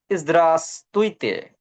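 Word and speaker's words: здравствуйте: Russian saw it's word saw it's word প্রনান্সিয়েট ইদ্রাসতুইতে in Russian সওয়া lobby প্রনাউন্সিয়েট ইদ্রাসতুইতে ইদ্রাসতুইতেসতুইতে হয়ার ভ hair we silent so this word প্রনান্সিয়েট this word lobby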